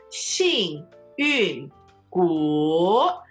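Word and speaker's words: 幸运骨: So, 幸运骨, fourth tone, third tone. 幸运骨.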